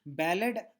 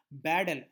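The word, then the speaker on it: Beadle: The scientist's name is Ballard. I'm sorry, I'm extremely sorry. Baddell, I pronounced it wrong.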